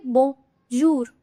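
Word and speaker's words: bonjour: तो यहाँ पे ओ और यू साथ में आ रहा है, तो हम इसको साउंड क्या करेगा? इसका बो जो यू ना करके बोंजूर.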